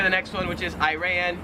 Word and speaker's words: Iran: same thing for the next one which is iran iran yeah just a minor difference 23 is fragile